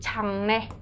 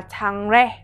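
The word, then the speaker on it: 장래: Chỗ này mình cần phải chú ý cái từ changnae. Từ này chúng ta sẽ đọc như thế nào đây? Changnae được chưa ạ? Chúng ta sẽ không đọc là changrae mặc dù mình biết là changrae nhưng mà khi mà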